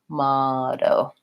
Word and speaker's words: motto: American English I will do these T's more as a flap T which sounds like a light D so it sounds kind of like motto motto now I'm not saying a strong hard close D motto it's light I just touch up and release motto the other thing is